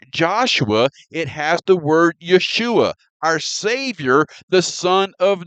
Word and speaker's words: Yeshua: Jesus is the transliteration, a word that sounds like his name, but his name is Yeshua, and the translation is salvation.